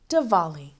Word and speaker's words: Diwali: it has a w in it but it's pronounced devali heren takes out her Dia and some photographs